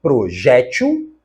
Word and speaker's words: projétil: e a última palavra apresenta dupla prosódia ela pode ser projétil paroxítona e neste caso deveria ter o acento